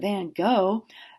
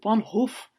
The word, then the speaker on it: van Gogh: It's not Vincent van Gogh, it's Vincent van Gogh."